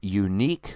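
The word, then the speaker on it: Yuneec: who are curious I use the uh the unique which is spelled y u NE C uh q500 which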